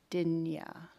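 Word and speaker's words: Dinea: It's spelled D-I-N-E-A. Dinya.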